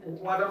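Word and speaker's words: は: গেছে না স্যার এই ওয়াটার উচ্চারণটা কি স্যার এই যে লিখতে গেলে হা হবে হ্যাঁ লিখবেন হা শুধু উচ্চারণ করবেন কি ওয়া মানে বলবেন ওয়া লিখবেন হা ওয়াতাশি ওয়া সেনসেই দেশ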